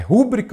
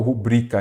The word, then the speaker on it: rubrica: É rúbrica ou rubrica? Ela é rubrica, ela é uma palavra paroxítona terminada em A.